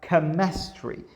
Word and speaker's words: chemistry: k and worked like chemistry here we have another verse which is chemistry yeah and where it's like chemistry che is pronounced ke chemistry yeah this is